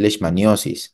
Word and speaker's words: leishmaniosis: Ustedes pueden llamarlo también leishmaniosis. Ambas formas de pronunciar o de escribir son correctas, ¿de acuerdo?